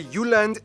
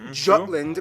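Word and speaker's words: Jylland: full disclaimer ignore wikipedia i'm going to pronounce the location names in their proper danish context so here we go denmark is made of the uland not jutland peninsula that connects to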